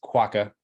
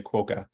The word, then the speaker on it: quokka: it shows you that quack is pronounced quokka as the way I'm saying it but in North America a lot of people say quoka so you're not necessarily wrong if you say that it's just it's a